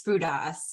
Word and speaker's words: Fountas: Yes, if we're in Greece, it's Fountas or Fouda, since I'm female.